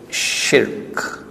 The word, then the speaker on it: shirk: act of shirk and please pronounce that word the way it is in the quran don't change it in your mali language the word is shirk one syllable not two why are we facing